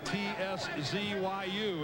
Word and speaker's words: Tszyu: Don't be confused by the spelling, the T-S-Z-Y-U. It is pronounced just like Z-O-O.